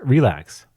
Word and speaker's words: RLax: at source code okay so arax pronounced relax is a library built